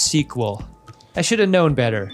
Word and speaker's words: SQL: Oh, I said SQL, and it's pronounced sequel.